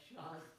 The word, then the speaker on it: Charles: this year Charles Charles I'm told I shouldn't pronounce the S Char ta is char please thank been backstage but